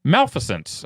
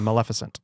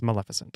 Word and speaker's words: Maleficent: uh this is the Disney movie is it pronounced Malificent starring Angelina Jolie it's a Maleficent Maleficent yes all right Maleficent I had a